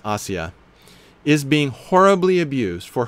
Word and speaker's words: Asia: This poor woman, Asia Bibi, it looks like her name is spelled like what we call Asia, but it really is Asia, is being horribly abused